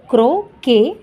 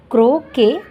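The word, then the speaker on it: croquet: होते हे काय आहे क्रो के स्पेलिंग पहा सी आर ओ क्यू इ क्यू य टी इथे टी आहे तो सायलेंट आहे म्हणजे की क्रो के क्रो के with हेच हक्स आता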